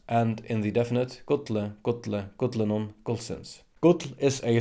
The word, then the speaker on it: gull: Notice that modern Faroese double L is pronounced DL, as in modern Icelandic.